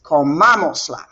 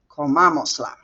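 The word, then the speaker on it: comámosla: Whenever I have to attach something to the end, I count 3 syllables back. 1, 2, 3. And I put an accent there. So it's like this, comamos la, comamos la.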